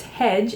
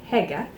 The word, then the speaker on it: Hege: And it was who I had pronounced hedge is actually Hege.